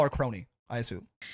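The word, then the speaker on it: Kronii: Like, when I say Crony, I think of like, it's pronounced that way. Yeah, I think of like this, you know, like a crony.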